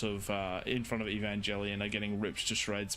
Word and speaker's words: Evangelion: There are there are units coming to save the day from uh how do you pronounce that? Evan Angel. Evangelion. Evangelian.